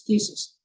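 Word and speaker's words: phthisis: Yeah, now, in thesis, the phi, ph, is not pronounced. It's silent. As we say, like the P in swimming. It's silent. So it's thesis.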